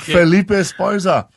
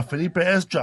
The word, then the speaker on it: Felipe Esparza: here man how do you say your name Felipe Esparza he was not my you're the future you